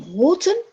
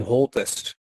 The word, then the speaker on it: Holtes: going to be Martijn Holten. Do I pronounce your name right, Martijn? It's almost unpronounceable in English, but Martijn Holtes.